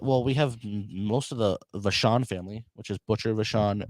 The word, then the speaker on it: Vachon: thought it was Luna Vacon. No, it's Vachon.